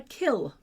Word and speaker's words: kiln: to me about a kiln is during the Middle English period, the N was not pronounced. So it was called a kill.